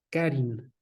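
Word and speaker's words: χάριν: La palabra para gracia es la palabra carin. Otra vez se escribe charin, ¿ok? Carin, ¿sí?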